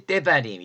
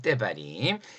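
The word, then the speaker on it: דברים: 때바림. 요거 약간 강하게 발음하 줘요. 때바림.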